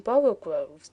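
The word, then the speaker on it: borogoves: Again, the first O in Borogroves is pronounced like the O in borrow, so I have heard people try to give it the sound of the O in worry.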